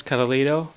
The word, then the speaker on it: Karlhto: Hello, my name is Karlhto, spelled like Karlhto but with an H. So it's K-A-R-L-H-T-O. Because in English language, the H is like who or something. But because I'm Greek, the H is ita, so I make the H sound like I.